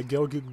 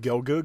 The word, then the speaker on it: Gelgoog: pronouncing that very well I usually go with gelgoog because you know the double-o like book so that's what I go with personally but yeah it's uh